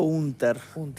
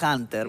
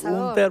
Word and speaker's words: Hunter: Yo le digo Hunter, pero la gente por lo general dice Hunter, pero yo Hunter porque soy más que es más campechano, más más del interior porque soy de Florida ya.